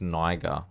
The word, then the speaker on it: Niger: Funny that this is pronounced Niger, but this is pronounced Nigeria, even though the ER at the end of Nigeria is its own clear thing, so it means this is pronounced Niger, and that's Niger.